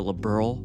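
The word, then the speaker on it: Liberl: With that all said, for the rest of the video, I'll be using the Liberal pronunciation. Anyway, back to the game. Labberal is set about 50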